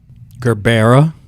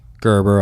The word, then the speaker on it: gerbera: are a spring flower what are some of the ways you've heard it pronounced gerbera Gerber obviously Gerber is the worst one Gerber Gerber like the baby like the baby food